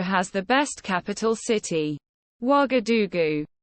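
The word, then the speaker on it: Ouagadougou: the best capital city wagadugu that's pronounced wagadugu as far as I'm aware which is a very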